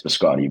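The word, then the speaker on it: Bisciotti: I don't think you pronounce it correctly. It's Biscotti, but it's fine.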